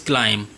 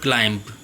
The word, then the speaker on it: climb: Okay boys, the pronunciation of this word is climb, not climb. B is silent here. We will not pronounce B, although it is written.